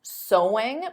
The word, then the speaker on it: sewing: and did you get sewing because of course the pronunciation is the same as so there's no seing though